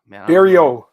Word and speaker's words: Barriault: Barriault. Barriault. T is silent.